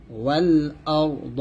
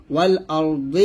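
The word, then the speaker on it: وَالْأَرْض: তাহলে একসাথে হবে ওয়াসিআ কুরসিয়্যুহুস সামাওয়াতি ওয়াল আরদ ওয়াল আরদ ওয়াল আরদি হবে না, পড়লে হবে ওয়াল আরদ আর থামলে হবে ওয়াল আরদ এরকম।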